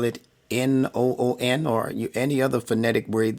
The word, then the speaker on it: nun: that suits your fancy, as long as you pronounce it correctly as noon, just like the sun that's high up in the sky around 12 o'clock. We call it noon. It's the same pronunciation.